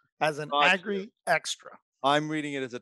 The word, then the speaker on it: AGRIXTRA: AGRIXTRA is what we call Extra. it. Oh, you're doing it. Okay. AGRIXTRA. Right. Okay. I was Emphasize on the X as an got you. AGRIXTRA.